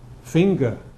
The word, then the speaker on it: finger: But finger doesn't drop the g. Why? Because it doesn't occur at the end of a morpheme or a word here. This is one morpheme, isn't it? This is not an ending. It's part of the word. Finger. But singer would be at the end of a morpheme, because this ER is an ending. It's somebody who sings. So singer, but finger.